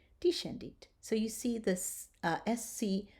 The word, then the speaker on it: descendit: When the S and the C are together, we are going to pronounce it sh, as in shine.